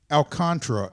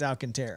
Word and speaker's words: Alcantara: the pronunciation so maybe i still think it's alcantara i don't know how it's not alcantara but they persist in saying alcantara or alcantara one of the two but it's not there's an extra a there is that isn't being pronounced yeah it's not true